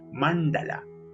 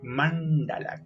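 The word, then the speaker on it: maṇḍala: speed especial incluso fisiológicamente mandala mandala con la lengua hacia arriba lo traducimos como círculo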